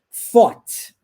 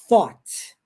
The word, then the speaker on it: thought: Se eu falar taught, com som de T, taught, então é o passado do verbo teach, de ensinar. Repare que a pronúncia correta do TH nessa palavra agora, ó, thought, é o passado do verbo think, de pensar.